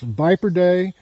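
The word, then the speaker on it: Viperidae: we're going to address viper day and elapidae are elapid die pronounced both ways and these these two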